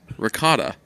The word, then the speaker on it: ricotta: Isn't it ragatha? What? That's how I pronounce it. Ragatha cheese? Ricotta. Ragatha. Maybe some Italians say it like that.